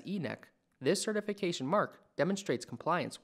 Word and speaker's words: ENEC: are qualified to issue enec certification commonly pronounced as e-neck this certification mark demonstrates